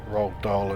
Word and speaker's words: Roald Dahl: I know for an ounce his cry correctly rock doll and you there you go I have something in common with Roald Dahl that's probably about it though I mean I